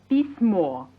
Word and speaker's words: письмо: Nouns ending in o and ye are neuter, like письмо, a letter, pronounced письмо, or café, a cafe.